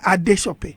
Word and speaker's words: Adesope: of the world sometimes family pronounces your name differently okay even your parents have a different way to pronounce your name so my ghanian family I'm used even the ones in the UK or the ones back here they call me ad shop okay so I'm used